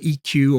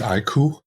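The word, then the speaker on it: iQOO: Vivo has its own little universe, right, with EQ or IQ. How do you say that? Is it EQ or IQ? I think it's IQ. Like I quest on and on. It's IQ.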